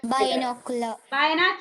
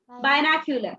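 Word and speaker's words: binocular: बायनोक्यूलर. Hindi में इस प्रकार लिखना चाहिए. ओके. इस प्रकार प्रोनाउंस करना चाहिए. बायनोक्यूलर.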